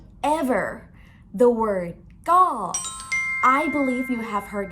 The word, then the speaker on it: ก็: is not something like ka or go, but it's go, short sound with falling tone.